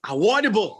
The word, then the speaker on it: Awodibu: It's Awodibu, like my man Fouad just pronounced it. Oh, I messed it up, though. You said Awodibu. I said Awodibu.